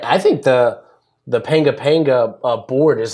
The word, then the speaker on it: panga panga: I thought it was pow pow. Pow pow. Is that how you say it? P-A-N-G-A, P-A-N-G-A? No, is that pow pow?